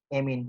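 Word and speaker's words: amine: इसको एमाइन भी बोल सकते हैं, कोई एमीन बोलता है, कोई एमाइन बोलता है, जैसे आप पूछा तो इसको प्रोनाउंस किया जाना। एमाइन भी बोल सकते हैं, एमीन भी बोलते हैं, एमाइन या एमीन इसको बोल लो।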